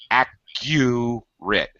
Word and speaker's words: accurate: accurate accurate accurate accurate accurate say a u in there like youate there we go that's what